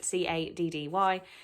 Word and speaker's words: Caddy: I don't want to say Caddy because it sounds like I'm saying the Mean Girl's name wrong, but it is Caddy.